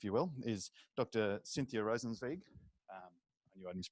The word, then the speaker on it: Rosenzweig: Cynthia Rosenzweig I need to pronounce that rosensweig who leads the the climate impact climate impact